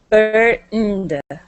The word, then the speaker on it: earned: Earned.